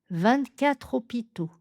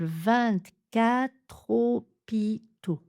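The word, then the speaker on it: vingt-quatre hôpitaux: Donc regardez bien le découpage, 24 hôpitaux. Donc difficile de prononcer ce R parfois. 24, gardez la langue bien à plat en bas, la pointe de la langue derrière vos dents du bas.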